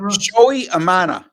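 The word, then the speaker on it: Shota Imanaga: you say that again Joey Amana that sure doesn't look like how it's spelled I no silent G it's a silent G and and the first name is pronounced showy again I went into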